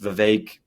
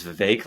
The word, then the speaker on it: Vivek: And so I think Vivek has had, and it's actually pronounced Vivek. Most people say Vivek, but he told me that it was Vivek, like cake, and so that's always stuck.